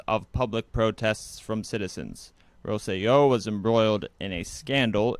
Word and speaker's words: Rosselló: There's an accent on the O, so I think it's Rosselló.